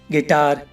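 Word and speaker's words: guitar: अब गार्ड में देखो गाइस, जी के बाद यू आया हुआ है तो यू साइलेंट है। ऐसी और भी एग्जाम्पल हैं, गार्ड, guest, guess, गिटार, गिल्टी।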